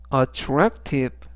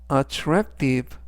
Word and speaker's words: attractive: 뜻이 되겠습니다 이번 단어는 attractive attractive attractive라고 발음하시면 되겠고요 이때 강세는 중간 부분에 있는 a 강세가 있습니다 그래서 attractive 라고 하시면 좋겠고요 품사는